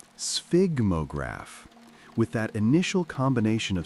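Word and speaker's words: sphygmograph: It's pronounced sphigmograph with that initial combination of sounds that seems designed to make people stumble.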